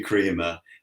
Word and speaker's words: Kremer: mine tends to be pronounced all sorts of ways from Crema to crer to Crea um and it's actually Crea but anything on any